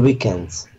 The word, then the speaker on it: weekend: On weekends. Weekend. On weekend. Ударение на второй слог.